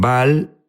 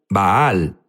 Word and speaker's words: Baal: Jesús habló sobre bal unos dicen bal baal es la pronunciación correcta correcto pero sabes qué es